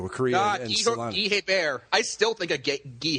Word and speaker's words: Hebert: I bet you I've got 15 Guy Hebert hockey cards here in the house. It's not Hebert. It's Guy Hebert. It's pronounced French, but he's from upstate New York.